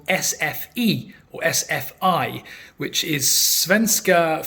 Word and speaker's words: SFI: attend SF as well I say SF because the swedes pronounce the I as an e so SF and uh but I'm